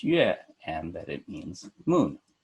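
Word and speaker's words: 月: this character second-to-the-last I would memorize that it's pronounced yeah and that it means moon and when I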